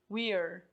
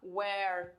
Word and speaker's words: we're: Gente, tem que cuidar que bastante gente pronuncia errado esse aqui, we're, tá? Porque o que acontece? Se eu pronunciar where, were, eu estou falando outras coisas em inglês que não vai ser a forma contraída do verbo ser, estar no presente, usando com we.